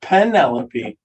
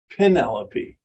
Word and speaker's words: Penelope: to get on to some Penelope not Penelope Penelope that was supposed to